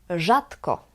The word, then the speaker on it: rzadko: The sound is the same, Ż. Listen to the examples. Rzadko, dobrze, żaba, żona. They are the same.